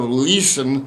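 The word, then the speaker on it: Lüssen: It's pronounced sort of Leeson.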